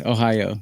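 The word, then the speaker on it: おはよう: Ohio, that's how you say it. Good morning in Japanese.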